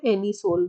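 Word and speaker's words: anisole: एनीसोल भी बोलते हैं, एनीसोल भी, एनी, ANY नहीं, एनी। एनीसोल भी प्रोनाउंस करते हैं, एनीसोल।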